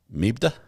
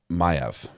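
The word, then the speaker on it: Maeve: It's pronounced Mayev. Can you see where I was confused? Kate, can you see where I was confused? I don't even know what language that is.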